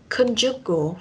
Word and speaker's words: conjugal: Trọng âm rơi âm tiết thứ nhất con, conjugal. Nếu mà theo anh ấy thì mình sẽ đọc là con. Thế còn theo anh Mỹ thì mình sẽ đọc là con. À, nó sẽ thêm vần A hơn.